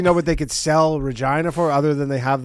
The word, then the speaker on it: Regina: you should come in Regina foreign I mean they're in a tough spot because it's all flat with many residents we are committed to involving more diverse stakeholder groups City that rhymes with vagina okay Regina player on